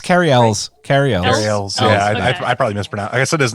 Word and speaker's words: Cary Elwes: to mention Princess Bride Cary Elwes it's Kerry Ellis carry out his name